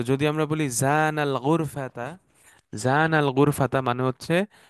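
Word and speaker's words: زنا: আর যখন জিনা বলতেছেন, টানটা থাকতেছে না মাঝখানে, তখন এটা হয়ে যায় ব্যভিচার।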